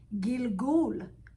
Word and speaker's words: gilgul: Gilgul, gul. See, you see the chirik that give that gi sounds. Then you got the silent, but that's a lamed. Gil, because you still got to pronounce the L sound, because the lamed give you the L sound.